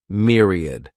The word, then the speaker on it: myriad: next noun is Myriad this word has three syllables and the stress is on that first syllable Mir sounds like Mir Myriad a myriad is a